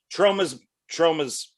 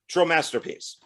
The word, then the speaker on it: Tromasterpiece: How do you pronounce it? Tromasterpiece. Tromasterpiece.